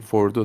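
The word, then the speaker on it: Fordow: Apparently they're also striking Fordo now. Is that how you say it? I think they have, yes. That's Fordo.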